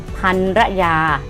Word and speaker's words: ภรรยา: อ่าน ว่า พัน ยา หรือ ภรรยา นะ คะ อุ้ย อย่า ก็ ไม่ ผิด นะ คะ อ่าน ได้ 2 แบบ นะ คำ นี้ นะ คะ